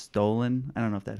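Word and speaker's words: Stollen: It might be pronounced stolen.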